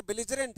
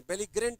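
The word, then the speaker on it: belligerent: अर्थ होता है बेलजेंट ज में पढ़ते हैं ग में नहीं बेगजग्रेंट नहीं बेजरेंट बेजेंट ज में उच्चारण लोगे बेजेंट के लिए बच्चा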